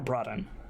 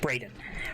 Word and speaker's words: Braden: And I don't know if you guys caught up, but is it Braden or Broden? How do you say it? Braden.